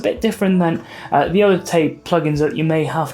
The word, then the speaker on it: TAIP: to be talking about tape by baby audio and it's spelled t-a-i-p and that's because it's artificial intelligence-based so it's a bit different than the other tape plug-ins that you may